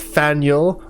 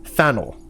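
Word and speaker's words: Faneuil: Don't let the French spelling confuse you. The name of this building is pronounced Faniel or Fannel.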